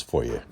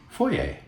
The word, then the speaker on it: foyer: And now we do it all again in Ken's foyer. And that's the light. And how do you pronounce that word? Foyer. Exactly. It's not foyer, it's... Foyer.